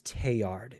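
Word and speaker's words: Teilhard: And I do believe that I mispronounced that word. It is teard.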